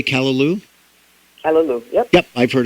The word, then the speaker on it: callaloo: I've heard of how do you say callaloo?